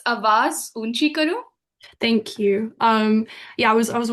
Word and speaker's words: Awaaz Oonchi Karo: Could you pronounce it for me? Because I would hate to butcher it. Don't worry. It's Awaaz Oonchi Karo.